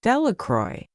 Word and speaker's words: Delacroix: Bobby and Harry Jones and Dickie Delacroix, the villagers pronounced this name, Delacroix, eventually made a great